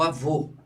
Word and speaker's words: avô: O agudo representa o som aberto como aó, não é? E o circunflexo representa o som fechado, como é o caso do avô.